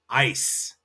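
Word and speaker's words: Eis: So instance, if you want ice cream, that is pronounced ice. Ice or it's gelato. But ice cream is e i s. So you have ice. That ei becomes an i.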